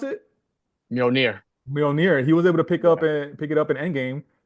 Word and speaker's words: Mjolnir: He's like, "Do you think Sam could pick up Mjolnir?"